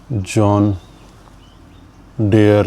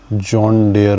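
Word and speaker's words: John Deere: क्योंकि बचपन से लेके आज तक मैं इसे जॉन डेयर बोलता रहा। तो अब देखते हैं कि इसका प्रोनाउंसिएशन जे ओ एच एन डी ई जॉन डियर का प्रंसिएशन है जॉन डियर डियर जॉन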